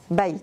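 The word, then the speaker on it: בית: Quand tu la prononces, tu entends quoi, bête? Qu'est-ce que tu entends? Bait, c'est qui veut dire maison.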